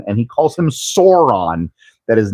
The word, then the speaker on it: Sauron: It is the fault of essentially Chris McKay, the director, to let every single time Zach Galifianakis talks about Sauron and he calls him Sauron, that is not his name.